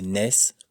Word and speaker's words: NES: Il faut donc prononcer NES pour N-E-S.